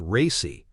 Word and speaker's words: RACI: RACI, pronounced "racy", stands for responsible, accountable, consulted, and informed.